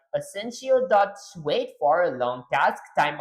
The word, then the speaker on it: asyncio: By the way, it's not pronounced asentio. It's essential, which is short for asynchron asynchronous meaning doing more than one thing at once.